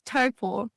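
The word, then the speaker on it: Taupō: It's Taupo.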